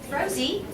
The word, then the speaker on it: Rosie: so you get a Rosie rhymes with cozy that is but I